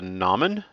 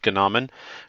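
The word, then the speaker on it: gnomon: one is about the nomin i believe the g is silent but if you want to pronounce it ganamin go for it uh and this is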